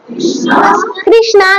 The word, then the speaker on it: কৃষ্ণ: কৃষ্ণ, কৃষ্ণা নয়, কৃষ্ণ, কৃষ্ণ, কৃষ্ণ, ঠিক আছে? কৃষ্ণ না চ রাজ্যম সুখানি চ, আবার না কংসে বিজয়ম কৃষ্ণ না চ রাজ্যম সুখানি